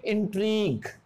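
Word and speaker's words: intrigue: रखा, जी यू ई, तो यू E silent हो जाएगा और जी किसकी साउंड देगा, ग की, तो इसको हम क्या बोलेंगे, इंट्रीग। एक और वर्ड देखते हैं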